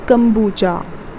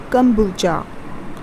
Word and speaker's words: kombucha: this is what you call is it as kombucha okay kombucha kombucha something very easy okay so next time whenever